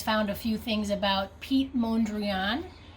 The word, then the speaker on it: Piet: up online go on google and search for Pete P IET Mondrian M o n DRA guys